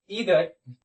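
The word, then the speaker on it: either: वो है each, ईदर, ईदर और नीदर। इसको आइदर और नाइदर भी पढ़ते हैं, तो आप जो पढ़ना चाहें आप पढ़ सकते हैं। दोनों प्रोनाउंसिएशन इसका जो है सही है, ठीक है।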